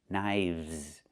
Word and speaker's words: knives: Again, with the V sound plus the Z sound, like in zebra. Knives.